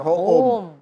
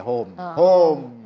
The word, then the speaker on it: Hoom: Tapi kalau kita bikin dokter ho e eh e home yang bahasa Inggris orang bacanya dokter home. Nah, jadi enggak nyambung kan. Nah, gimana supaya orang kita bacanya dokter home. Nah, ya ini home gitu.